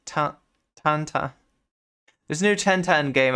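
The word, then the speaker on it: Tintin: 10 10 a taunt how is it pronounced in French it's like Tanta there's a new 1010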